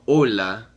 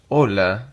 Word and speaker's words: hola: obviously, we all know hola, hola, right? But if it's daytime, if it's morning, you would say buenos días. All right. So here we have hola. Remember that H is silent.